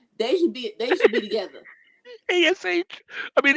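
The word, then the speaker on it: Nikki A.S.H.: And Nikki ASS. They should be together. ASH. I mean, ASS is okay, but it's ASH.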